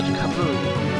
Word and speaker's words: Camus: But, more importantly, I believe his name comes from the French philosopher Albert Camus. I probably pronounced his first name wrong too.